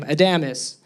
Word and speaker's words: Adamus: My name is Adamus. That's how you say my last name, Adamus.